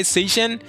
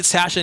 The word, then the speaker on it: Sashin: By the way, if you call this guy Seishan, I'm gonna apologize. I usually call it Sashin. I know there's like a controversy sometimes. Like to me, Sashin is the official way to pronounce this.